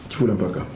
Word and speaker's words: Kifula Mpaka: Kifula Mpaka. Je prononce bien le Kikongo là?